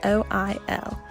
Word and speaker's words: oil: that I say is the word all o I L I pronounce it all instead of the typical oil this is a trace of my southern dialect although there is nothing